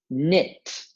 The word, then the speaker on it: knit: open the doorknob finally your last word is knit my grandma would want to knit a sweater